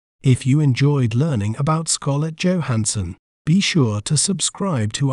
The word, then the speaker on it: Scarlett Johansson: We may pronounce it as Scarlett Johansson, Scarlett Johansson, Scar, Let, Jow, Han, Sun, Scarlett Johansson.